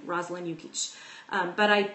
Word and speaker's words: Jukic: that's my name Rosalind yukich um but I spell it out because my last name is foreign and so it's not phonetic not phonetic in the English language that is so um